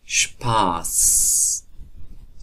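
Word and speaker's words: Spaß: و حروف ترکیبی اس و پ که با هم دیگر یک جای میشه، مخصوصا در آغاز جمله اش تلفظ میشه. اش اش اش.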